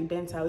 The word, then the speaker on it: bento: See, I'm trying to be bougie, don't even know how to pronounce it, but it gotta be bento. It's B-E-N-T-O, bento, yeah. Yeah, that's how you pronounce it.